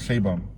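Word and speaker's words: Sheinbaum: But they pronounce it Shaybum.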